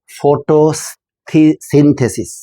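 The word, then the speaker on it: photosynthesis: উচ্চারণ যখন আমরা করি তিনটা এখানে সিলেবল আছে। ফোটো সিন্থেসিস।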